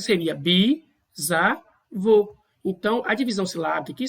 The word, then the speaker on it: bisavô: A pronúncia seria bisavô.